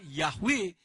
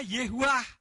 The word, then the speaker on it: Yahweh: Supaya bisa bunyinya Yahweh. Karena kalau tidak diubah begitu bunyinya Yehuwah.